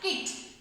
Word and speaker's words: kite: Words like కైట్ that end in e have a long I sound and the second vowel e stays silent. ఇక్కడ e అనేది silent word లా ఉందంట. KIT ఏమవుతుంది? KIT కిట్.